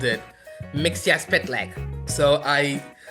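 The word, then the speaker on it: Mxyzptlk: use multiple dimensions, and I actually called it Mixia-Spitleg. So I spelled out the words, and I actually learned how to pronounce it. It was M-X-S-P-T-L-Y-K. Yep. Mixia-Spitleg.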